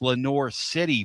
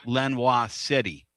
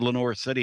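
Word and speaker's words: Lenoir City: It's Lenor City, boy. Quit calling it Lenois City."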